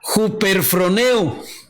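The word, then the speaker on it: ὑπερφρονέω: griega g 5252 que se pronuncia hooper from eu y qué significa ser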